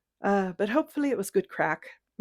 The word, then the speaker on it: craic: I know it was probably all over the place, but hopefully it was good crack. And I'm using that in the Irish terminology. It's spelled CRAIC and it means conversation.